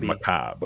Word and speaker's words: macabre: So technically, the way you pronounce it is macabre.